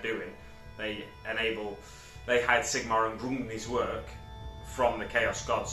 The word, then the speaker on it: Grungni: I looked at the pronunciation of that just before I recorded this video, so that's why it was so deliberate, that pronunciation. So Grungni is a great maker.